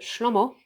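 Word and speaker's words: שלמה: And so you pronounce Solomon Hebrew, you pronounce it Shlomo.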